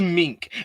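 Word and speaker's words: Meinke: He's like, he's like, "My name is Mink." And you know, they never be able to pronounce my name because it's spelled M E I N K E.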